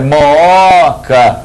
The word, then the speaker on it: Mooca: Aí, Mooca, não tem acento, mesmo formando hiato, por quê? A sílaba tônica não é o primeiro O, é o segundo O.